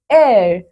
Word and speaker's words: heir: C, an heir. बच्चों यहाँ पे हो क्या रहा है? We have used an before these words too because H is silent.